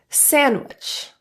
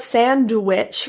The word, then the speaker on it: sandwich: Sandwich. And soldier. Now, a note about sandwich or sandwich. The D can be so minimized that you don't hear it, or it can be fully pronounced in this example.